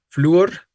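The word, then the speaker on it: flúor: no entonces ahí está fluor debe ser con acento no decimos fluor si la palabra fuera fluor sería diptongo Y entonces sería un monosílabo Y entonces No tendríamos por qué acentuar pero es un yato es una palabra bisílaba eh efectivamente la respuesta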